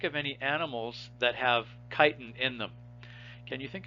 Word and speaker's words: chitin: some letters that beget some words that begin with ch have snuck into biology that we pronounce is a cha but chitin is not one of them so you pronounce this word as chitin okay so yeast and